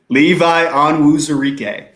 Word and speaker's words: Levi Onwuzurike: Levi Onwuzurike.